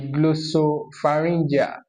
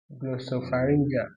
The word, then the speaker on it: glossopharyngeal: The glossopharyngeal. Spell GLO, glow. SOPHA. Should I come again? Glossopharyngeal. Glossopharyngeal.